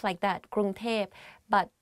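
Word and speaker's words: กรุงเทพ: พ Because like conversation wise, it's easier to pronounce like that, Krung Thep.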